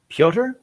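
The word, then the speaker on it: Pyotr: here alex lyon and how do you say his first name piotr peter kochekov there we go i just hadn't heard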